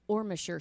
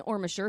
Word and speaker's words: Ormesher: jumping into this is the murder of the ormisher sisters yeah so we're starting with amy because it happened on may 5th 1956.